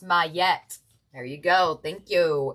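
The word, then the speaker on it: Maat: Ma, pronounced Mette.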